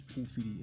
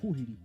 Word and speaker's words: pōwhiri: So if you take the word pōwhiri, other iwi will pronounce pōwhiri as pōhiri.